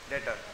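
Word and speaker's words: debtor: नाम आ गया Mohan डेटर B silent डेटर इ पर्सन टू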